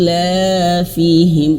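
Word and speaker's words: إيلافهم: Kalau warna biru tua, oh iya warna biru tua itu adalah mad. Nah, dua harakat. I il ilafihim. Nah, dua harakat itu berarti satu ayun atau satu alif.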